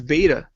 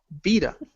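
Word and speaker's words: βήτα: it they refer as beta right but it's not beta because it sounds like a V so is vita vita so I'm like oh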